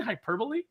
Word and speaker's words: hyperbole: we were like do you do you mean hyperbole he was like is that how that's pronounced he's like I've only ever read it